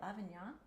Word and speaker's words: Lavignac: Lavignac.